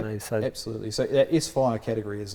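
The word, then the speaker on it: S-Phyre: S-Fire. Yes. Oh, so you don't put it together. It's definite split. It's S-Fire.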